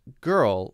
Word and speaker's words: girl: it back and pronounce girl like this ah so they're teaching how to do it that's right you roll your tongue backwards when you say the r sound to make it sound correct and then you have